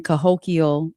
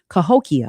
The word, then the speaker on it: Cahokia: It's the um it's the chance for you to hear uh what's going on in Cahokio or Cahok, I'm sorry, I'm saying it wrong now. Cahokia Heights.